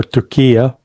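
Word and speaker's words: Türkiye: Well, it would be a suicide mission by Turkey or Tokia, you know, depending how who wants to pronounce it uh in the the most upto-date fashion.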